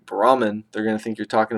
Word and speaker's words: Brahman: over an Indian say Brahman they're gonna think you're talking about the caste Brahmins they say boom boom boom they they pronounce the H BR h brah they